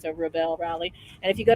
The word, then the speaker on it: Rebelle: So you think of it as a rebel and a bell, like a Southern belle. So it's a Rebelle Rally.